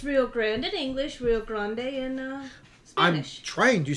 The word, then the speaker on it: Rio Grande: Is it Rio Grande or Rio Grande? Rio Grande. Depends. Are you saying it in English or in Spanish? It's Rio Grande.